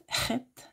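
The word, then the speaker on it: חית: Si on va dans le lexique ancien, c'est Rachak, Chet. Je sais pas, nous autres, on n'a pas cette lettre-là dans notre langue, donc c'est dur à prononcer, mais c'est un H guttural, comme l'obscurité d'une nuit sans lune, okay, un endroit sombre.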